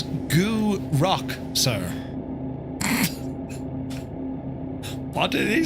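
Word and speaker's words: Gourock: Gurick. Gurick. Did you say gurick? That was a grunt. I think you'll find the pronunciation is goo rock, sir.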